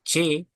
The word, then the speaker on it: C: And then C, we say like che, J. It's che, like J. che, no, che. It's lighter than J. che.